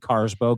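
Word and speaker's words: Karsbo: Yakob Carsbow. K A R SB O.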